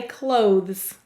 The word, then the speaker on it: clothe: Let's first sound out clothe, and then we're going to add a z, clothes. All right, so first clothe. K, use a K, S, O, O, V. Silent final E.